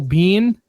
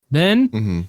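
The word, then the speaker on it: Biehn: Ringo who's played by I always say his name wrong Michael Bean Ben yep and then you meet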